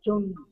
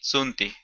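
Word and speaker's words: tsunti: No se olvide de leer TS Sunti. Sunti. TS. Sunti. Ah, hay que pronunciar Sunti. TS Sunti. T-S-U-N-T-I, Sunti.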